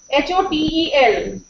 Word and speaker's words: hotel: You can see H-O-T-E-L. We know that the stress is on T. Hotel.